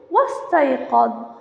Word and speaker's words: واستيقظ: همزة الوصل عند وصلها بالفاء أو الواو فإنها لا تلفظ، فأقول واستيقظ واستيقظ فاستيقظ.